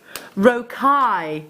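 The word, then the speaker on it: rocaille: charlotte bead with your galvanize rokai that's how you pronounce it broke eye i broke high this kit should be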